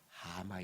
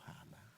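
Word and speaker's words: הָמָה: 있는 것을 보요 여러분이 탄식이라고 히브리말로 이야기하면 하마 있죠 하마 발음이 똑같을 뿐이에요 입큰 하마 마라는 뜻이에요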